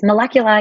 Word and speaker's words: Molecula: marketing officer for molecular that's how i say it right yes molecular you got it perfectly right now mimi and